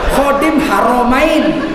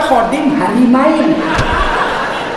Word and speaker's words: Khadim Haramain: Khadim Haramaid ditulis salah pula membacanya. Raja Salman Khadim Harimain selamat datang penjaga dua istri. Dia pendaga kota suci. Khadim haramain dibaca khadim halimain.